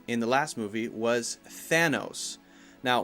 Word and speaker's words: Thanos: the last movie was Thanos now one common mistake when you say thatthis name is to not say the th sound and to say instead Santos Santos with an S sound incorrect you have to be